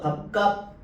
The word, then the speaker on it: 밥값: 자 1번 밥값. 밥값. 자, 밥에 비읍받침 뒤에 오는 기억이 된 소리 발음됐죠. 교체 일어났죠. 그다음에 갑 갑에서 비웃이 발음되고 시옷은 발음 안 되죠. 탈락이 일어난 거죠.